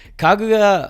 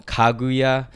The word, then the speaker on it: Kaguya: Bad this early but kaguya uh I know I'm pronouncing it wrong kaguya there you go is just such a